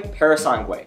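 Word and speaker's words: Purosangue: naming not mine that being the new Ferrari parasangway yes that's how you say it don't crack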